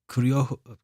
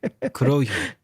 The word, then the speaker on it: Kurohyo: of the 2010 Yakuza game, PSP title, spin-off Kuryo. It's a hard word to pronounce. Kurohyo. Kurohyo, yeah.